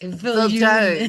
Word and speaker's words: Viljoen: Petrus Jacobus Viljoen. Viljoen. Should I write it for you? It's Petrus, Okay, spell it.